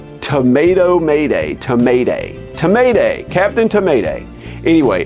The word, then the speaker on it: Captain Tomaday: It's Captain Tomaday. Everybody says Captain Tomaday. You're a tomato, and it's a pun with Mayday. Tomato Mayday, Tomaday. Tomaday, Captain Tomaday.